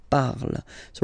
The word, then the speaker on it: parles: So you've got the two first forms, you pronounce them the same way. You write them differently, of course, because you've got e here, and then you've got e and s, okay? But then phonetically, they are the same.